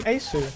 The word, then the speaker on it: Aceu: you oh hell no oh what's his name asu i've been saying it wrong all this time